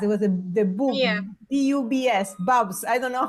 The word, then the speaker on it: BUBS: BUBS, Bubs. I don't know how you pronounce it.